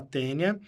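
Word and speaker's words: Taenia: nome dele tênia saginata se escreve taênia mas se fala tênia e o outro tenha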